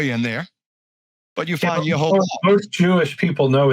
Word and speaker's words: Yehovah: His name is Yehovah. No, they didn't know. They never heard that it was Yod-Heh-Vav-Heh. They just maybe didn't know the pronunciation. No, they don't know. Now some may have guessed it's Jehovah, and I've heard a lot of people say Yahweh.